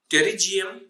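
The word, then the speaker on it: pterygium: internal reflection you get terry gm which starts from t then t the p is silent t e r l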